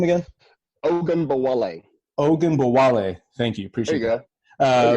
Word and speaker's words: Ogunbowale: Ogunbowale.